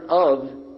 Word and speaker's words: of: Just like in the word of, O-V-O-H. I mean O-F. I'll get it right in a minute. O-F, we pronounce it of with a V, right?